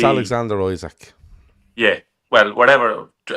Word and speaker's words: Isak: probably see it's Alexander Isak. Yeah, well, whatever. Let's say Isak, because it's IKEA, isn't it? So I'll say Isak, so IKEA. With a K.